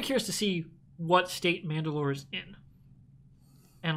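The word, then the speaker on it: Mand'alor: n apostrophe d apostrophe-a-l-o-r like it's said like mandalore but it's spelled different because it's a title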